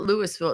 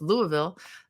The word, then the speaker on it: Louisville: I said it right I know it's not Lewisville it's Louisville I have some uh